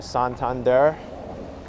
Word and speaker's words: Santander: the local bank here santander or santander for the spanish pronunciation i'm pretty impressed with